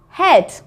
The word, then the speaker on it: head: EA says eh. So let's have a look at the vocabulary. The first one is feather. Feather. Bread. Bread. Head. Head. And heavy. Heavy. Okay, so feather, bread, head, heavy. They all make the same sound, air, but they're all spelt with an E-A. We just don't hear the A, just the E.